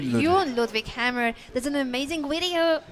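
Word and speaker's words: Jon Ludvig: Jun Ludwig, because he taught me how to pronounce that years ago when we played in some tournaments together.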